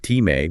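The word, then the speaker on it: timē: There's time, pronounced time, which is the physical manifestation of honor, like wealth and land.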